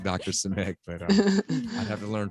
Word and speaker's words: Simek: Help me with the pronunciation, because she told me, and I. No, you got it. You got it. It's Simek.